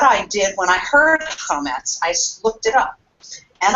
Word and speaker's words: chametz: But then it also says foreign, una parola strana, a strange foreign word, and it is spelled with, interestingly enough, with a CH, chametz, just like we say it in Hebrew.